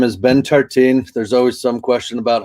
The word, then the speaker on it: Tertin: my name is ben tartine there's always some question about how to pronounce that weird last name it's best to just go tar and then teen like teenager or however you want